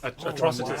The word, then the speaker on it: Atrocitus: Atrocitoris. So atrocious. Atrocitus.